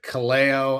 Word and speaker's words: Kaleo: It's Sam Stats and I'm here with Cleo. I learned that's how you pronounce his name.